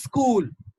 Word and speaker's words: school: in india what happens i've heard many people pronounce this word with an additional vowel sound so what they do they insert one more sound like this something like this is school it's cool it's cool no that's wrong you don't have to include or insert another vowel okay it's school school school school okay it has got a longer ooh sound now this one these